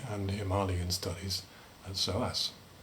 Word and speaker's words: Himalayan: Professor of Nepali and Himalayan Studies at SOAS. Now, note those pronunciations. Don't you mean Nepali? People sometimes say. Don't you mean Himalayan? No, I reply, it's Nepal, not Nepal, and Himalayan, not Himalayan.